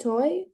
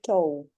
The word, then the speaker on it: toe: For me, so difficult word, I think toy. And But stop. Pronunciation. We say toe.